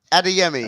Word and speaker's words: Adeyemi: going to get the pronunciation of Google, isn't he? Yeah, I'm going to get it wrong. Oh, Adeyemi. Adeyemi.